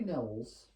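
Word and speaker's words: Knowles: be an understatement Harry NOS or Harry NOS or Nows whatever you want to call it so his last name is no as like if you know something so K and o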